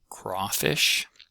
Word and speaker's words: crawfish: Um crawfish is one of those uh kind of odd words that has about equal stress between the two halves.